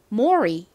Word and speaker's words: Mori: 만약 L이 아니라 R이 왔다면 그러면 받침이 생기지 않고 Mori 이렇게 발음이 될 겁니다.